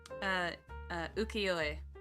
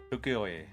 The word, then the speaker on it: Ukiyo-e: There's a Ukiyo-e land that, am I pronouncing that correctly? Ukiyo-e. Ukiyo-e.